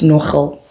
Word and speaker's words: NGL: Is it Nogal because the way it's spelled like NGL, it's Nogal.